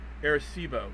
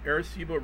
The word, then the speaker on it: Arecibo: I looked up how to say this to Arecibo Arecibo radio Observatory in Puerto Rico built into a